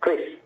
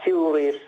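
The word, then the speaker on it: Kris: can we pronounce it we agree that we are going to pronounced as chris not curious or otherwise all right so is it subtle right it's chris in indonesia not not even karis it's chris with k-r-i-s all right sir it's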